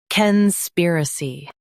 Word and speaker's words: conspiracy: cane spear uh see, conspiracy Focus on spear and soften a see.